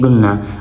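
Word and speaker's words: gonna: इस तरह लिखते हैं और इनको प्रोनाउंस करते हैं गुलना।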